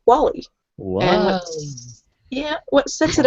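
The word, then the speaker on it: Walli: I should mention that it's not spelled like the terrible no, Wally it's impression me and Chris just did. W-A-L-L-I. Wally.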